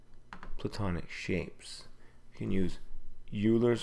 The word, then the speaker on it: Euler: shapes you can use Euler's formula Oilers formula I've heard a couple of different pronunciations now what it is